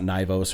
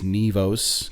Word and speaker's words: Nivos: Nivos is how you pronounce it. Anybody's wondering. It's not Nivos or Nivos. It's Nivos, kind of like Neevos, right?